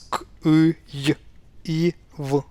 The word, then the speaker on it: Kyiv: But pronunciation-wise, it's the same as K, Y, I, V, Kyiv.